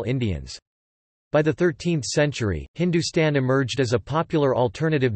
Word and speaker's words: hndstn: Thapar states that the word Hindu is found as Heptahindu in Avesta, equivalent to Rigvedic Sapta Sindhu, while Hndstn pronounced Hindustan is found in a Sasanian inscription from the 3rd century CE, both of which refer to parts of northwestern South Asia.